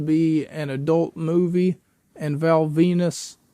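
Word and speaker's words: Val Venis: an adult movie and Val Venus which rhymes with my penis would and Val Venus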